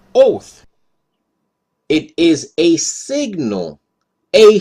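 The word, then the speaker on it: אוֹת: Strong's dictionary its word number 226 it is pronounced oath it is a signal a flag beacon monument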